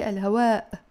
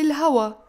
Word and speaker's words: الهواء: the همزة they say الهواء in Lebanese Arabic we don't pronounce the همزة when it falls at the end of your word so we don't say الهواء we will say الهواء الهواء الهواء and notice